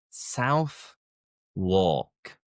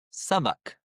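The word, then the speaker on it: Southwark: And looking at the spelling, you would think South Walk.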